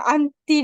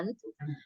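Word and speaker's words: aunt: apa sih namanya ya Jadi ini dalam bahasa Inggris sebenarnya at ya yang benar adalah at at ini artinya tante ya Bibi Bibi ya Bibi sama Uncle itu paman atau juga Om biasanya iya ya ya Nah kalau ada mungkin kamu dengar istilah ini sering mungkin kamu dengar anti an ya Anti ya jadi anti ini kayak lebih kayak panggilan sayang aja Ohti ini mungkin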